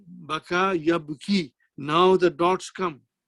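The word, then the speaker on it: بكى: So now the vav changes into alif, da'a, and ya with the two dots changes into ya without dot, and we pronounce it as baka.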